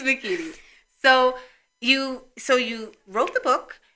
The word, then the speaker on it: Makini: And her name is spelled exactly how it sounds. So it's very phonetic. There are no Y's, there's no Q's, there's no Z's. It's just, it's Makini.